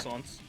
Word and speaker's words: croissant: croissants. Croissants are great, like sweet. My family croissants bullies especially. me because I pronounce them correctly.